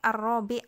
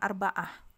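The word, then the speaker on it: الرابع: RI ya latihan keempat jadi bacanya ini arraabi ya Jangan arbaah karena kalau urutan itu artinya yang ke gitu ya latihan yang keempat Nah kalau yang ke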